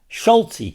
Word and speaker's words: Schultze: but younger says yeah schultzy called me schultzy because there's that e on the end of my name even though I pronounce it Schult he said yeah that's